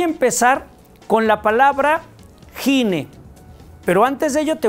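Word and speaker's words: γυνή: referir a una mujer el primero es gine G i n e se pronuncia gine Qué es gine o sea gine es mujer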